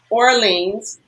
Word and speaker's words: Orleans: Yes, Orleans. Orleans. So it's like Yeah. like New Orleans here Yeah, in but his surname sounds foreign.